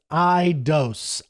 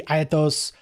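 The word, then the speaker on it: αἰδώς: The Greek word is idos. Idos. It can be aytos. There's different pronunciations, but iidos.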